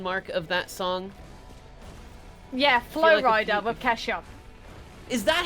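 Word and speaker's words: Flo Rida: a cover question mark of that song yeah Flow Rider with cashup is that how you say his name oh my god I've been calling him Florida for years yeah flua but it is like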